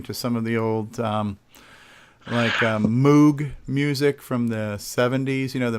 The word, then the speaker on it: Moog: And actually, yeah, the actual correct pronouncing is called Moog. I've always called it Moog, but and Karen's saying in the chat, yeah, it is pronounced Moog, although it's not spelled that way.